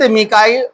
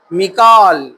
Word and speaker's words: میکائیل: تفسیر میں لکھا ہے لفظ میکائیل کے 6 تلفظ ہے، میکائیل، میکائیل، میکال، میکیل، میکائیل، میکائل، یہ الگ الگ الفاظ، الگ الگ ایک ہی ہے، الگ تلفظ سے آتے ہیں۔ اللہ تعالیٰ سورہ بقرہ